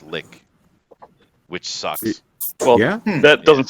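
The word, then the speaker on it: lich: technically pronounced that way it's actually pronounced lick which sucks well that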